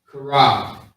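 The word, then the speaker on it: Chaarab: So we got the C-H-A-A-R-A-B. Okay? Karab. Is how you say it quickly.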